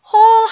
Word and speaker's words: whole: whole 하면은 무슨 뜻이죠? whole? 뭘까요? 구멍에, 그거는요. hole. 발음이 같죠? W가 무음이에요.